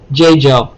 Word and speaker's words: Jeju: view not that really matters but j jo pronunciation so i said wrong okay j joe is that how you say it okay thank